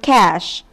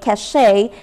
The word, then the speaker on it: cache: last one we have the word cash no this isn't a sneaky French word the tendency to say cachet stems from the similar looking word meaning Prestige while cash refers to a storage or hiding place thank you and good